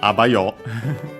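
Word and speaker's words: あばよ: Last but not least, we have this abayo, which is a colloquial see you then, bye, ciao. The accent is on the a.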